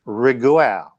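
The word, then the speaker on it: Raguel: James Version Bible, it's Riguel or Riguel. But the G wouldn't be pronounced as we do in English, so it's actually a transliteration of Reuel again.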